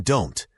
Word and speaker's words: don't: Focus on the T in don't. In natural speech, it's often not pronounced strongly or it disappears completely, especially before a vowel or another consonant sound.